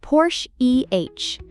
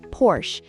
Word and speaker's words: Porsche: It's actually pronounced Porsche EH. The E at the end is important.